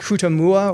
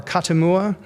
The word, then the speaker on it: Kutamuwa: It mentions the seated individual by name, the pronunciation of which would be something like Kutamua or Katamua. That's his name.